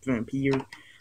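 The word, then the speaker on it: Vampyr: I spelled it for Y. That's how I pronounce it, Vampire. And there's no E, so yeah.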